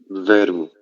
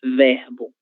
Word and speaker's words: verbo: Muit verbo. Perfeito. Muito bem. Algunas regiões de Brasil, a gente vai haar verbo, verbo. A letra R, ela vai vibrar. OK? Pero la maior parte del Brasil a gentea verbo.